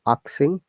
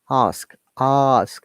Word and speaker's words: ask: careful very often i have heard students are pronouncing the word axing that's really wrong ask ask remember our sound i then ask ask so